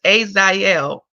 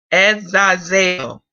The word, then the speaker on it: Azazel: the speaker being within the laptop, but it's pronounced as Azazel. Let me say it again. Let me play it again. Azazel. Azazel.